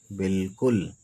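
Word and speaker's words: بالکل: इसको बिल्कुल बिल्कुल बिल्कुल इसमें अलिफ जो है साइलेंट है साइलेंट वाला फंडा जो है यह अंग्रेजी में भी है ठीक है बिल्कुल स्वाद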